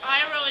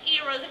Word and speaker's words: Iroh: Night Shyamalan, this is more Oriental, so you have to pronounce it like Iroh and says like Ero.